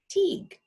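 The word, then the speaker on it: Taghd: It's spelled kind of funny for us. It's T-A-G-H-D, but it's pronounced Teague.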